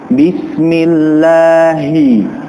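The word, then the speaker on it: بسم الله: huruf ha di antaranya maka Jelaskan pengucapan huruf ha ya maka Jelaskan seperti ini ha hi hu pada sebuah kalimat contohnya dalam Basmalah Bismillahirrahmanirrahim Bismillahi Hi karena di antara kita kurang jelas dalam pengucapan h-nya Bismillahirrahmanirrahim Bismillahirrahmanirrahim Ir ir seperti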